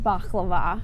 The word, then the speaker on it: baklava: You know, I'm really not a fan unless it's like baklava.